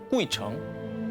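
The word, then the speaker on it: 鬼城: 다녀가기만 해도 장수한다는 전설을 가진 중국 발음으로 꾸이청, 한자로 보면 귀신 귀자에 도시 성자를 쓰는 그야말로 귀신들의 성, 귀성입니다.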